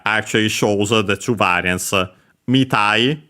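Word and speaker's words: みたい: Mitai, accent on the mi of mitai, or without anything.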